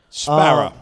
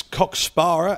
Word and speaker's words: Cock Sparrer: A lot of Americans think it's COCK SPARRER, as in sparring. Yes, that's how I think. But no, nothing to do with that.